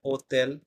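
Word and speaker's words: hotel: প্রোনাউন্সিয়েশনে যাই এরপরে আক্কা এইচ এর কোন উচ্চারণ নাই ঠিক আছে এটা আমরা মনে রাখবো যেটা আমরা লিখি হোটেল সেটা হবে ওতেল যেটা আমরা লিখি হসপিটাল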